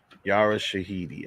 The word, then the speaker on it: Yara Shahidi: Yara Shahidi, I think her name is pronounced.